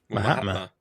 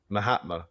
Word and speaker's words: Mahatma: Mahatma. Mahatma.